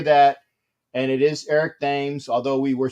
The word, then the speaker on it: Thames: and it is eric names although we were saying that his name is spelled like the river tem in england that was that was